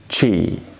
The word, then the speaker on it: ci: know next one is it is not English C it is chi Chi like ciao ciao this is the most